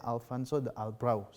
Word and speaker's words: Alfonso de Albuquerque: Albuquerque seperti itu Hai kalau ditulisnya Alfonso de Albuquerque Tapi bacanya Alfonso de Albuquerque seperti itu itu sampai.ke wilayah Malaka